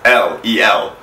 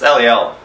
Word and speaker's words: Eliel: the text it is LVL so whatever then you're wrong it's not no it's LEL you pronounce it LEL friend text me le